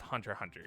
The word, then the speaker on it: Hunter x Hunter: okay uh moving on hunter x hunter or just hunter hunter because some people will slap you if you pronounce that x uh it's a